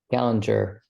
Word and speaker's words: Gallinger: Actually, is that the right way to pronounce the last bit? Gallinger? Gallinger.